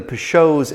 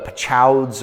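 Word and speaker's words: Peychaud's: I would always call it Peychauds or whatever it is, but it's Peychauds is how you pronounce it.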